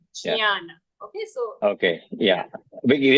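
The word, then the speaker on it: ज्ञान: But we should be careful that we do not pronounce it incorrectly and say Jana or Janana or anything like that. We have to say Right. Yeah. Jnana.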